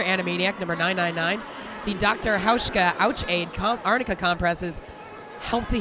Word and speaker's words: Hauschka: Hauschka. Rhymes with Ouchka.